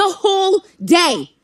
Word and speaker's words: whole: The whole day. The whole day. The whole day. E aqui, ó, eu nem precisaria precisaria desse R aqui, não, tá?